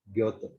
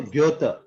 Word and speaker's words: Goethe: Goethe. So Goethe, okay? Umlaut, how should you say? Put your mouth round mouth, okay? And then say O from that. Goethe, Goethe, Goethe.